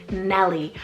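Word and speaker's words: Mellie: little bit vintage here is Nelly spell m-e-l-l-i-e Melly I actually love this as a sibling name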